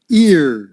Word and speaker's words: ear: kept one or two ear ear like in year impulsive so peter